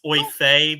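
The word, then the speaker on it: Oifey: His name is actually pronounced Oifei because it's some old language thing, but we called him Oify because it was funny.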